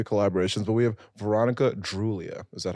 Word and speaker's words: Droulia: But we have Veronica Droulia. Is that how I pronounce it?